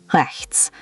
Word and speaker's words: rechts: Rechts. Try it again, focusing on that soft ch.